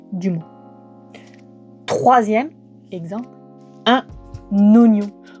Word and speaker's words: oignon: Pourquoi est-ce que le i est là ? Alors, à quoi sert ce i inutile ? Et ben c'était à l'époque pour bien rappeler que le GN se prononçait de manière mouillée et donc c'est-à-dire devenait mieux. Maintenant c'est bien acquis, on a plus besoin de lui. D'ailleurs, il y a une réforme de l'orthographe en 1990 qui autorise maintenant à écrire oignon sans un i.